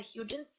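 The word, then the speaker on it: Hudgens: one case where um an actress Vanessa hugin that's how her name is pronounced was fined by the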